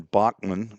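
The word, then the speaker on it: Boeckmann: Did the Did our player Is it Bachman? Ev is it Evan Bachmann? That's how Doug Dorne pronounced it the other day. B O E. Where is he? There he is. Evan Bachmann. B O E C K M- N. I would have pronounced it Beckman, but he said Bachmann.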